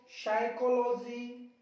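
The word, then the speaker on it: psychology: अब एस से पहले देखिए, एस से पहले वाले पी को चुप कर दो, साइकोलॉजी, शामोडी, शामोडी, शाम, देखो ऊपर भी सिखाया मैंने शाम, यहां पे भी सिखा रहा हूं शाम।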